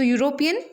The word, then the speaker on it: European: Now, European, despite the word starting with E, the pronunciation is Y. So European, Y-O-U.